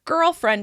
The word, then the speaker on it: girlfriend: use it and the the male version girlfriend is stressed on the first syllable because it's two words together there so hopefully if